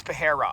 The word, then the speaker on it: Pereira: weekend against Michelle Perera I believe it's Perera it's pronounced a little bit different from Alex Perera but nonetheless way different